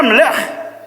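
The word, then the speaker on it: מלך: Y la pronunciación era Melech.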